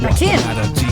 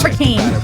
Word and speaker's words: Rakim: Rakim, not Rakim. I knew I would say it wrong.